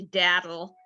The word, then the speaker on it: Dadel: So I'll just remind people that it's actually daddle, which rhymes with battle, cattle, or rattle, none of which is particularly flattering.